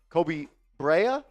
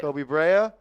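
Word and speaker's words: Koby Brea: Chaotic Shay, please go up and get Kobe Brea. That's how you pronounce it. Yeah, Kobe Brea.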